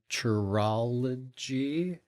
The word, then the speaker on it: Churology: I also co-own a food truck called Churology. Oh, nice. Yeah, so there's, rhymes with Herrimanology.